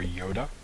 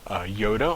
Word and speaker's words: iota: The next four letters we're going to deal with are iota, kappa, lambda, and mu. Iota, or pronounced iota, I've heard it both ways, is capital letters like a capital I.